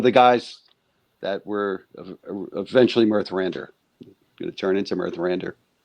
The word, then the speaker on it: Mirthrandir: How you pronounce it now again? Mirthrandir. Mirthrandir? Mirthrandir. Yes. Mirthrandir.